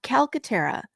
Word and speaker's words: Calcaterra: Carrie, it's pronounced Calcaterra. Calcaterra. It's phonetic. It's pretty easy. It's just long, so it looks scary, but it's definitely an